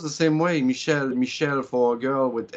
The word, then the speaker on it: Michel: yeah I've only it's a role Michelle Trombly Michelle Michelle is a very common name for men